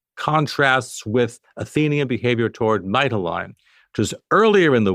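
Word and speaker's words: Mytilene: is how it contrasts with Athenian behavior toward Mitaline, which is earlier in the war. Mitoine, which I hope I'm pronounc coming close to pronouncing correctly, Mittellini, thank you, was a valued ally of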